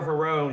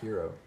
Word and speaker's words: Herro: in the fourth quarter they went after tyler herron shot nine for 12 against him hero sorry i'm terrible at that that's going to